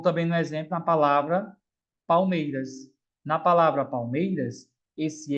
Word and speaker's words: Palmeiras: Palmeiras é como se L tivesse som de U.